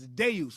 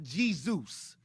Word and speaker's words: Zeus: is the d sound the letter z in greek is the d sound as in deus so zeus in english is pronounced zeus and among the greeks it was deus with a d so it's not g